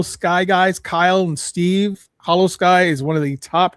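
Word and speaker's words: Holo Sky: Hollow Sky is one of the top rated parallel podcasts out there.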